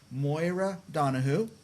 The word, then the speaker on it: Moira Donohoe: they found this artist I'm going to try to say her name Moira Donahue how'd I do you did great now you are uh